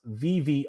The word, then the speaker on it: Viviz: It's pronounced VV.